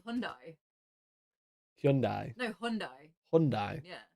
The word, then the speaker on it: Hyundai: Hyundai. Wrong. No matter what the adverts say, it's Hyundai. Shut up. I always say Hyundai.